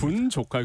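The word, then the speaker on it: 분좋카: 줄여서 부르잖아요 조카 예 그래서 발음 중간에 조는 조에 다 히시요 조은 할 때 분위기 좋은 카페 분 조카라고 한다 이거죠 발음을 잘하셔야 되는데 알겠습니다 분 조카 그렇게 요즘에 좀 많이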